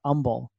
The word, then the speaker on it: Humble: it yeah where well it's spelled with an H but we all call it humble it's instead of humble we call it humble and so like I